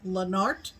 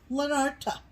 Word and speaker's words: Lenarta: We've zeroed in on the correct pronunciation. It's not Lenart. It's not Lenarte. It's Lenarta.